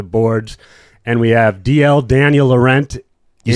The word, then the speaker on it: Daniel Laurent: And we have DL, Daniel Laurent.